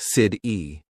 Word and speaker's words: city: Americans don't always pronounce the T sound clearly. For example, water sounds like wader, better sounds like be dare, city sounds like sid-e.